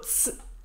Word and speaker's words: es: Das Wort es wird oft nur als es, also s, ausgesprochen.